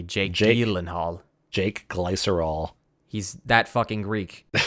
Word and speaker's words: Gyllenhaal: the gilen hall Roadhouse the Gillen Hall that's how you pronounce it apparently Jake gelen Hall Jake glycerol he's that